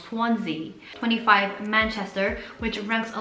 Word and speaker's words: Swansea: words swansea all right i was completely saying it wrong swansea 25 manchester which ranks